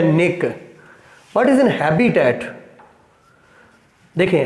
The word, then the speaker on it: niche: मैं तो इसको निक बोलता हूँ, लेकिन इसे निच भी बोलते हैं लोग, नीच भी बोलते हैं।